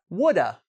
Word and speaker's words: would have: "Would have" can be pronounced, repeat: "woulda".